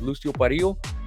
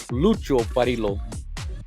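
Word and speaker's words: Lucio Parrillo: the number 29 with Lucio Pario. I'm sorry, Lucho Parilo. Sorry, the um Mexican wants me to say lucio pario, but it's lucho parilo, how he would pronounce it, I believe, in Italian.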